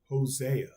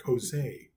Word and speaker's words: Hosea: Hosea, I always say that like Hosea. I say it like with a Spanish accent almost. Like Hosea.